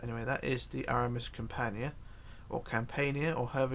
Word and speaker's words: Campania: is the RMS companion it depends how you want to pronounce this could be Campania Campania it's up to you how you want to interpret it I've just gone with what the pronunciation is online so there we go and what are the people pronounce it as so Campania is what I'm going with and that's what I tend to keep it as but yeah if you're